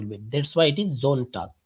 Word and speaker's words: Sonntag: That's why it is Zontag, Zamstag. After S we have vowel. So we have the sound Zamstag or Zontag.